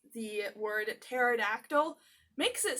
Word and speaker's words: pterodactyl: Yes, the "P" is silent.